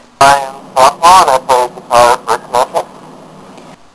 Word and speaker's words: Kenotia: Everyone knows, we were Kenotia, Kenotia, come on to different stuff, but it's Kenotia, so that's why we were actually needing to put something on our MySpace, the proper pronunciation of it, just so people know how to say it.